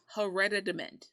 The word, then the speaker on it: hereditament: it admit already meant here it's a t but it sounds like a d and doesn't sound like hereditary yeah hereditament right and what it's